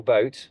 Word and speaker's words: boot: Yeah, whether it should be pronounced boot or boat. Boat. It's German, so it's a German word. It's got a double O. Yeah, So. the trouble is, it's spelt B-O-O-T, which in English is boot.